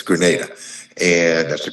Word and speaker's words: Grenada: as a trade representative for the nation of Granada and or is it Grenada it's Grenada and that's the correct pronunciation and he was appointed to the World